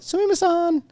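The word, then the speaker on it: すみません: But the one, like the big one, sumimasen. That was, and you gotta say it like a little like sumimasen. You almost have to have like a little like a feminine tone to the whole thing, just because it's just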